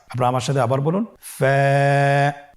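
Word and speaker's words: فاء: ফা কফ কাফ লাম মিম নুন ওয়াও হা হামজা ইয়া। ফা হরফটি আপনারা স্ক্রিনে দেখতে পাচ্ছেন। ফা হরফটি উচ্চারণের ক্ষেত্রে বারিক হবে এবং এক আলিফ টেনে পড়তে হবে।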